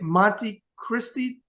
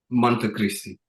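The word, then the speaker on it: Monte Cristi: the age of 12 and you say it Monte Christi Dominican Republic is that how you say it Monte Christi Monte Christi okay talk about growing up there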